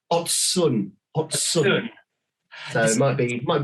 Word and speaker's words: Ocun: the the company name it's odd sun so it might be